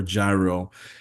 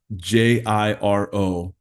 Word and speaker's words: Jiro: It's either Jiro or Gyro. and it's Jiro, Dreams of Sushi.